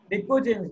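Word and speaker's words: pnicogens: क्या लिखा है आपने निको जनस बेटा प एन आईओ जीी एन एच प साइलेंट है निको जनस निकोजन इसको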